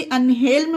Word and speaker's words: unhelm: L silent नहीं है, इसे अनहेल्म पढ़ेंगे क्योंकि ये रूल के एक्सेप्शन में है।